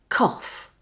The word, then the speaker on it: cough: To make the OFF sound, just shorten the OR sound like this. OR, O. Now begin the word with unvoiced K.